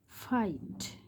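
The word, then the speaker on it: fight: Second আরেকটা হলো এফ আই জি এইচ টি, ফাইট।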